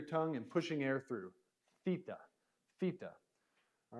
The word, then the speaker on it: theta: The next letter we learned was theta, theta. And this is a harder TH.